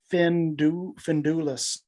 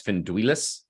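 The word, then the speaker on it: Finduilas: Findulis. Correct. I might be pronouncing it wrong, but I think pronunciation is Finduilis.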